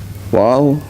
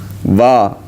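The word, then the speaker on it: و: Wow? Is that how you say it? No, not vowel. Va. Right? You know, like, wal asr. That va.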